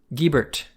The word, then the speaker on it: Gibert: Which is silly, but like the way that we're pronouncing it is the Americanized version of a French name. And the answer is that we are pronouncing it Gibert.